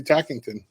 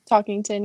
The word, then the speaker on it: Talkington: The next national qualifier for the EOU women's wrestling team is Dempsey Tackington. Is that how you say it? Tackington? Talkington, yeah. Talkington, like you're talking.